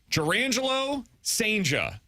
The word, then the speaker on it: Jurrangelo Cijntje: The Cardinals are getting, bear with me, there's a lot here, Jurrangelo Cijntje. I finally have learned how to pronounce his name.